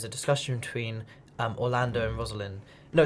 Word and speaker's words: Rosalind: It rhymes as Rosalind, so it's things like Western Ind, wind, rhyming with Rosalind.